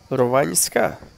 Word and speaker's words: Rovanjska: The letter J in Croatian language is equal to the letter Y in English language. And when it's added after the letter L or N, then it's pronounced as Lj and Nj. Povljana, Rovanjska. It's strange, right?